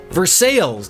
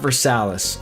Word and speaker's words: Versailles: Vers sales, not Versalis.